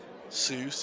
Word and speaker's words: Seuss: Seuss is pronounced like choice.